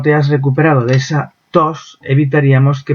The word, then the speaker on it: tos: Es el caso, por ejemplo, de la palabra tos. Si esa T, el aprendiz, la pronuncia de forma más relajada, pues en lugar de sonar tos, sonará dos.